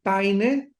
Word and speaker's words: Payne: Barton, Payne se escribe P-A-Y-N-E, Paine, J.